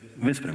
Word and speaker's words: Veszprém: I just returned the last week from Veszprém. Did I pronounce it correctly? Veszprém? Veszprém, okay.